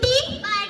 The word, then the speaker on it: to: जी ओ गो और टी ओ तो नहीं नहीं टू पढ़ते हैं।